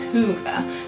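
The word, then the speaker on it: hygge: there's a tradition called well it's pronounced hoover is felt quite differently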